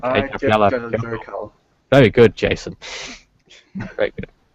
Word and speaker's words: Eyjafjallajökull: I can pronounce it though. It's something like Eyjafjallajökull.